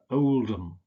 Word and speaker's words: Oldham: don't pronounce this ham you usually just pronounce it um so it's not Birmingham but Birmingham its Chatham Dagenham Nottingham Oldham so it's just um